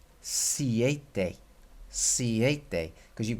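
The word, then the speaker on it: siete: a if this is seis then this is pronounced c8 day see eighth day because you've got an e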